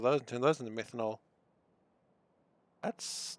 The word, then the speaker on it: methanol: um is there an easier way to make menonol or i'm saying it wrong how do you actually say it methanol uh there is i could use carbon dioxide